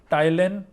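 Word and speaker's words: ptyalin: Salivary amylase, इसको टाइलिन भी कहते हैं। टाइलिन, पी साइलेंट होगा यहां पे।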